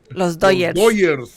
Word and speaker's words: Los Dodgers: Dodger fan, obviously, but you're not saying it right. You're supposed to say Dodgers. Los Dodgers.